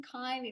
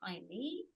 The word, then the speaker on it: Kylie: I mean, no, it's um Kylie, like Kyle but with an E. Kylie.